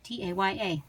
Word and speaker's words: Taya: So here is T-A-Y-A, pronounced Taya, Taya Kate.